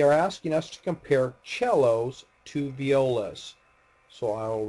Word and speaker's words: cello: is not C it's cello in ital and this is an Italian word the the C by itself is pronounced CH so cello all right